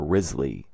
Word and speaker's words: Wriothesley: I think before people pronounced it Wriothesley or Risley.